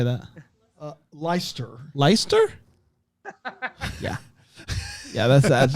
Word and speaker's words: Leicester: that the driver of the week the lake Hester Square how would you say that uh leister leister yeah yeah that's that's now that I